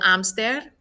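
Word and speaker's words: hámster: conejo hamster is el amster spelled the same but don't forget the accent and don't pronounce the h and then last we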